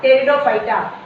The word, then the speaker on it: Pteridophyta: Are kept under Pteridophyta. P is silent here, Pteridophyta.